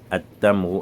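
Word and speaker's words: التمر: Pour décharger cela, on dit At-Tamru, At-Thamaratu, As-Suidoku, Ad-Doifu, et ainsi de suite.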